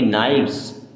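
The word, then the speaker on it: knives: क्रम क्या पढ़ेंगे क्रम के एन आई वी ई एस इसे पढ़ेंगे नाइव्स क्या पढ़ेंगे नाइव्स डब्लू आर ओ टी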